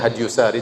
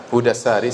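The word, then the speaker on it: هدي الساري: Saya nukilkan dari kitab Hudassari, sebagian orang bacanya Hadyusari tetapi yang benar Hudassari, sebagaimana ditashkil, diberi harokat langsung oleh Ibnu Hajar rahimahullah, penulis buku.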